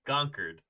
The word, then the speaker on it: Concord: Concord oh oh conquered conquered is how we say it conquered Concord oh boy uh-uh uhuh